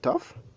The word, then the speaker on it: tough: Vous voyez que le GH, par exemple, au niveau de tough, est prononcé comme F.